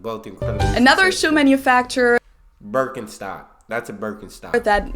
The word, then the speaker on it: Birkenstock: speakers usually say Birkenstock in German we say Birkenstock Birkenstock Birkenstock which literally translates to Birch stock